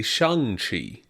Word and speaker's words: Shang-Chi: Simu Liu tweeted out pronunciations, and it's actually Shang-Chi.